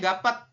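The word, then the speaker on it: 값: Tulisannya gapet, tapi kita bacanya hanya gap.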